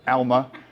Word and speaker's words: Alma: The urge to pronounce it Alma is overwhelming, but Alma.